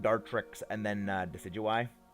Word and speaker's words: Decidueye: tricks and then uh decidueye i have heard people mispronounce deciduous name so horribly it makes me physically pained to hear it they say desi do i and i'm just like